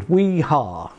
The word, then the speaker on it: Wiha: Wiha, pronounced as the Yanks would. Wiha.